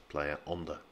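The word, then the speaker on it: Playa Honda: straightforward one to say the only thing you really need to remember with player under is that you lose the h because as i said before with spanish as with french in many cases in most cases the h isn't pronounced so it's player on the player under again this is another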